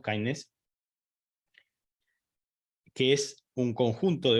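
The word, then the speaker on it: KINDNS: un programa nuevo que se denomina Kindness, se escribe K-I-N, perdón, K-I-N-D-N-S, digamos, Kindness, que es un conjunto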